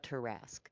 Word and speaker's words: Tarrasque: I love how you say it properly, the Tarrasque, because there is only one Tarrasque.